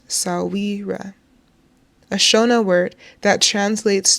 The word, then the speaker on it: Sahwira: In my culture, no dead person is buried without her Sahwira, pronounced Sahwira, a Shona word that translates to friend of